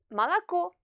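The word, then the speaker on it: молоко: des deux premiers o il se situe avant la syllabe accentuée il se prononce donc clairement à malako et PIV la bière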